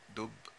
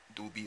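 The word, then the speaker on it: Dubhe: I'll I'll slew to dope do be rather okay depending on how you want to pronounce it in Arabic it would be dope just means bare and there you see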